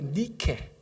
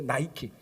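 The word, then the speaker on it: Νίκη: 어떻게 발음하죠? 원래 니케. 원래 니케인데 영어로 발음하면 어떻게죠? 이게 나이키입니다.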